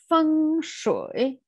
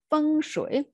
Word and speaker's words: feng shui: doesn't really sound well feng shui see voice goes down and up again feng shui okay this first character here stands for wind and the second one is water so feng shui went water can imagine